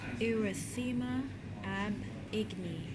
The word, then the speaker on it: erythema ab igni: Pronunciation. Erythema ab igni.